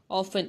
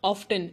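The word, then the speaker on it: often: ऑफन, इट्स नॉट ऑफ्टन, इट्स ऑफन। टी इज not pronounced, T is silent.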